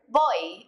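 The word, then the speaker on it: voy: means I go and this is one of those words where you're going to have to focus a little bit on the pronunciation in Spanish v's and B's sound a lot alike and they're pretty much just a mixture of the two letters after Bo you're going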